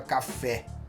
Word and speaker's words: café: Por exemplo, a palavra café. Café é uma palavra que a tônica está no E, né? No fé.